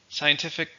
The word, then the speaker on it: scientific: number 12 is scientific scientific simply means related to science it's an adjective how many syllables scientific three and the stress is on the second syllable scientific there is no